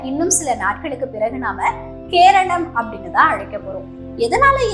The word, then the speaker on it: கேரளம்: Okay, இந்த எழுத்துப்பிழை எதனால வந்துச்சு அப்படின்னு சொல்லி பார்த்தீங்கன்னா, பிரிட்டிஷ்காரர்களுக்கு இந்த வார்த்தையில முடியக்கூடிய பெயர்களை சரிவர உச்சரிக்க முடியாது. அதனால அவங்களுடைய வசதிக்கு ஏற்ப மாத்திக்குவாங்க. இதுலதான் கேரளம் அப்படின்றது கேரளா அப்படின்னு ஒண்ணு ஆச்சு.